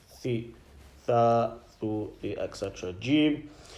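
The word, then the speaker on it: جيم: Jim, when pronounced when the center of the tongue touches the upper palate.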